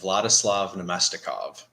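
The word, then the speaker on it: Vladislav Namestnikov: And just to help Nadesify out with the pronunciation earlier, it's Vladislav Nemestikov, if that's who you're looking for.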